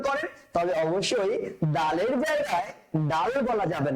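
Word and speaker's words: دال: ডাল কি বলবো আমরা? ডাল। ডালের উচ্চারণটা বাংলাতে লিখলে কিভাবে লিখতে হয়? দ দিয়ে লিখতে হয়। তো দয়ের উচ্চারণ আপনি যেভাবে করেন দ, আপনি যেভাবে করেন ঠিক সেভাবে উচ্চারণ করবেন ডাল, ঠিক আছে স্যার?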